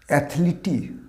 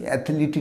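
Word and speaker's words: athlete: অ্যাথলিটি নয়, শেষে হবে না, এর উচ্চারণটা হবে অ্যাথলিট, অ্যাথলিট।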